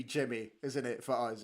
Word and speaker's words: Jimmy: fun isn't it because the Swedish pronunciation is yimy but I think it's it's it's going to be Jimmy isn't it for us